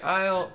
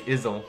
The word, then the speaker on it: isle: Okay, Isle. I just wonder. I always have a problem with that word because it doesn't look how it's pronounced. Mm-hmm. I don't want to say Izzle, and that's definitely not unlocked what's going on.